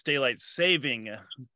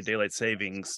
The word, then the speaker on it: daylight saving: So, first of all, it's daylight saving, singular, not plural time. So a lot of people say daylight savings time, but that's actually the incorrect pronunciation.